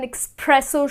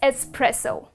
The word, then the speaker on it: espresso: have an expresso shot but it's not expresso it is espresso where does the X come from it is pronounced just the way it is written so it is es so you will pronounce it as espresso I would like to have a shot of espresso and not expresso okay let's move on